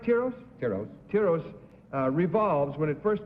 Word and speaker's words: Tiros: may I say I guess I stand corrected tyros is the correct pronunciation I was told this afternoon was tyros